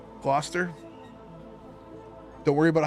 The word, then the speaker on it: Gloucester: But, this is pronounced Gloucester by the way. If you're not from New England, you may stumble on that one. Gloucester. Gloucester, like gloss. Like something that's glossy. Gloucester.